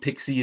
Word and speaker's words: PKCE: Um so PKCE is proof key for code exchange. Nobody pronounces it that way. Everybody says Pixie.